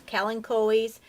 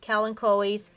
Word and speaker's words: Kalanchoe: That is the correct pronunciation, I believe. It's Kalanchoes.